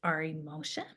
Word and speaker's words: Ari Moshe: His name is Ari Moshe.